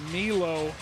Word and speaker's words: Milo: Actually, Milo is how he wants his first name pronounced, and Milo just made a play.